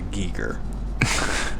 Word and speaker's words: Geiger: I said he says Geiger in there he pronounces a Geiger yeah but I believe if you were German he would pronounce a geek er but he does not